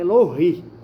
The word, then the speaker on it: Elohim: Tem muita gente pronuncia Elohim, né? Mas é Elohim.